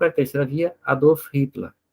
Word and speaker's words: Hitler: Na época do Hitler, ou Hitler, que é a pronúncia em alemão, estava vigente a Constituição de Weimar, que todos vocês estudaram, né?